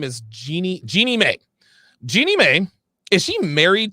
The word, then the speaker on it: Jeannie Mai: to talk about tonight is how do you pronounce her name her name is jeannie jeannie mae jeannie mae is she married to young jeez